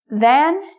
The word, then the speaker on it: than: Than is more like can.